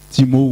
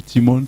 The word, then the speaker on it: Timonn: donc timo nouveau mons timo sont prononcés les deux ailes mais vous pouvez penser comme vous voulez timo ou timone c'est pareil timo signifie un titre